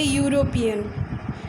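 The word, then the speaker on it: European: यू अगर हम pronounce कर रहे हैं तो क्या आ रहा है? वाई। लेकिन ई क्या है? ई एक भावल है। अगर साउंड प्रोनाउंसिएशन के समय अगर कॉन्सोनेंट ही आ रहा है तो हम यहाँ पर ए ही यूज़ करेंगे।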